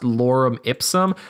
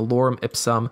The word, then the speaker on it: lorem ipsum: Sometimes placeholder text can look like this, where it's kind of pronounced lorem ipsum.